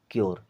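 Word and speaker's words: cure: प्योर इसी प्रकार इसे पढ़ेंगे शोर इसे पढ़ेंगे क्यर क्या पढ़ेंगे क्यर यानी यू आर ई के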